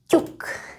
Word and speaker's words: ťuk: The closest approximation of the sound T in English would be maybe with the word tune, if you pronounce it more in British English. Tune or Tuesday.